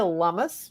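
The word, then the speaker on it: Lummis: to go with Senator Cynthia lumus rhymes with hummus of Wyoming who was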